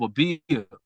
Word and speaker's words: Abib: the 14th night of Abib. Now, boom. What is a bia? Okay, Am I so pronouncing that correctly? yeah, something like that. It would be ABIB. That's how you would transliterate it into English.